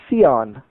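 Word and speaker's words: scion: for it in English it's spelled s c i o n seon you can also render that seon Zion so the the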